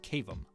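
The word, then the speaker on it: CAVM: for villainous molding or C AVM for short pronounced cavum despite what you may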